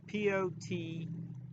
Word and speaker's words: poteen: It's Poteen, and it's pronounced poteen because it's the Irish language, Gaelic language.